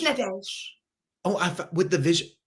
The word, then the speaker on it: Nadège: Nad. Very close. The E is silent after Nad. Just Nad.